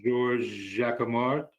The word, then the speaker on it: Georges Jacquemart: I'm looking at the memo from the city's consultant, Georges Jacquemart. Is that correct? How you pronounce his name?